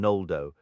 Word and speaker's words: Noldo: Interestingly, this latter sound could appear at the beginning of Quenya words, but was simply written with an N, like in Noldo, reflecting the common pronunciation of the era.